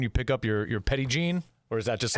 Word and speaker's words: Petit Jean: are so what about the petite jean no pettit oh see i said it wrong again okay eddie gene petty gene so i got some